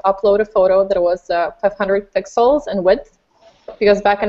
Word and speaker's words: 500px: So the proper pronunciation is 500 pixels, but if you want to call it 500px, that's fine, because I'm doing the same like almost every other day, unfortunately.